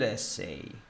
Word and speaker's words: essay: It's a good essay. Как пишется? Давай теперь напишем. Эссай. Эссей. Эссей. А, ударение на первый слог.